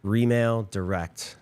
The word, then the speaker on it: Remail Direct: Remail Direct. Remail. Can you spell that? Remail, like R-E, like real estate.